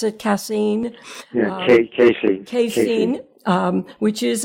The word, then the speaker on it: casein: And I believe that you stated that casein, is that how you pronounce it? Casein?